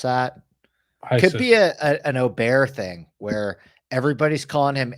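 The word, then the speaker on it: Åberg: that could be an oar thing where everybody's calling him Aber Berg and then the pendulum swings to Oar and then people start saying oberg it's it's Oar for sure yeah that's what I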